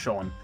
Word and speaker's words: Sean: Every time I see Sean spelled that, I always go straight to saying Sheen, and say that's not, and I don't think Sheen's a name. I'm pretty certain it's pronounced Sean.